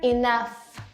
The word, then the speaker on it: enough: how to pronounce it GH in enough is pronounced as f f so we say fair enough fa enough fa enough